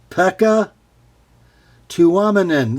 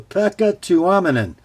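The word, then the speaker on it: Pekka Tuominen: designer's name last week pekka to ominon there we go pekka to ominon sounds like a finlander because he is this is a spyderco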